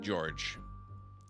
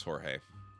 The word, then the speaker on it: Jorge: in that hose I pronounced it George even though I know it's Jorge I'm a bit tired